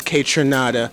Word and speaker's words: Kaytranada: name in different ways K trinada Kai trinada let's get an official pronunciation from the man the proper way to say it k trinada k from Canada yeah from Canada so